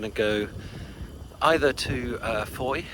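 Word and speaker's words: Fowey: So, uh this morning, we're going to go either to uh Foy Foy River. Um for those not familiar, you might think of it as Fouy because it's spelled F O W E Y.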